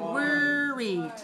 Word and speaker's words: worried: When you say this sound, worried. All right, look at my lips. Make sure you don't say worried. Don't say war. Say wor.